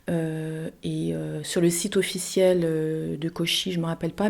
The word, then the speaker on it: Koshi: C'est un carillon et ça s'appelle Koshi Chimes. Chimes, bon bah c'est en anglais pour carillon. Koshi, ça s'écrit K-O-S-H-I et Chimes, c'est C-H-I-M-E-S.